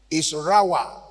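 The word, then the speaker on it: רעה: The Hebrew word that is translated to shepherd is rawah, R-A-A-H, pronounced as R-A-W-A-W.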